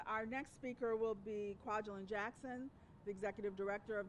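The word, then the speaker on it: Kwajelyn: our communities here in the state of Georgia Kwajalein my name is spelled and i have plenty of business cards for anyone who needs that again later my name is Kwajalein Jackson and I'm the executive director of feminist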